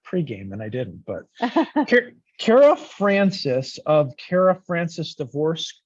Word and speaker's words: Kara: foreign Francis and I'm pronouncing your first name right Cara right it's not Cara is it yeah you got it right the first time it's Kara okay I think most